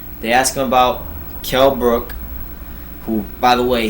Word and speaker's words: Brook: asked him about kell brook who by the way he's intentionally saying his name wrong kell brock he's calling kell brock he's not kel brock the only block there